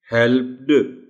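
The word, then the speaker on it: helped: हेल्प्ड, वो flow disturb होती है. Hence the word will be pronounced as हेल्प्ड. आखिर में टी की आवाज हल्की सी पैदा होती है.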